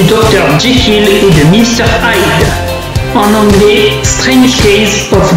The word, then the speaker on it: Hyde: Hyde se prononce comme Hyde en anglais, qui signifie cache.